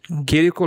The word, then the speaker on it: Chirico: The pronounce is correct? Yes. Chirico, Leonardo de Chirico.